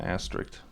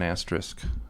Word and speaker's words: asterisk: the star do you it's not an aster you got to say it right at least it's an asterisk oh sorry see see